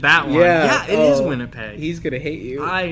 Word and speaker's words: Winnipeg: starts with the W Winnipeg David yeah it's winter peg winter peg always winter never Christmas winter pasture peg oh man I butchered that way Winnipeg he's gonna hate you I know where we're